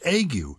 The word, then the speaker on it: ague: but egg you a g he would be pronounced agu now why is it not harangu which in